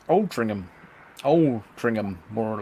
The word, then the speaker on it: Altrincham: and Foxley sending Steve actually it's pronounced Altrincham Oh bring them more